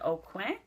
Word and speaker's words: Aucoin: I have a friend, Candy, that's a stickler for the pronunciation of his name, and I believe you're not supposed to say the N, so I hope I did that right.